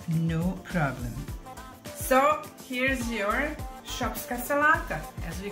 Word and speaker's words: Šopska salata: This is how you pronounce Šopska salata.